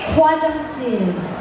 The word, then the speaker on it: 화장실: Everybody say Hwajangsin. Hwajangsin. So it will pronounce the L.